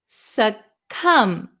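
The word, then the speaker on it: succumb: this word is pronounced suum there is no B sound suum suum suum the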